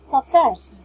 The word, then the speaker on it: possessed: For the SS, it's possessed. We pronounce it as T, right?